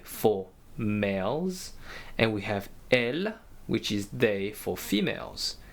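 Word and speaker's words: elles: males and we have L which is they for females and they have an S at the end but we do not pronounce them so I repeat v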